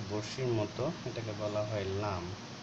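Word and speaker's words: ل: মত এটাকে বলা হয় লাম লাম হচ্ছে এটা বাংলা ল এর মত উচ্চারণ অর্থাৎ এটাকে যদি আকার করি তাহলে হয় লা লি লু তাহলে এটা হচ্ছে লাম এটা হচ্ছে মিম মিম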